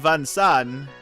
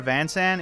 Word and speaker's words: Vincent: I, Vansan, in the name of friendship, renounce my aristocratic standing and I swear Vansan is just like the way he pronounces his own name, even though his name is Vincent.